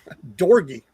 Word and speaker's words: Dorgi: And it's Dorgi. It's like it's just put a D on the front instead of a C.